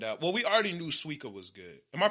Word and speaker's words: Suika: well we already knew suica was good am I pronouncing that right yeah that sounds that sounds better that sounds more Japanese yeah suika and uh we found